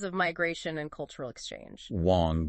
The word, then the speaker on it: Wong: and Wang transformed into Wong okay so over time over centuries yeah through waves of migration and cultural exchange Wong became the Cantonese pronunciation exactly for both hang